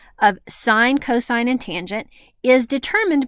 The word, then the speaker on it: sine: the six trigonometric functions sine of alpha we pronounce it sine of alpha it's abbreviated s i n sine